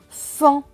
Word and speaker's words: enfants: feu et un enfant le thé à la fin est écrit en bleu donc il ne se prononcent pas donc ce monde va se lire et les enfants et les sens et